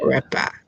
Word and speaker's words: Retba: Retba.